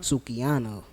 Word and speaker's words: Sukihana: Sukihana.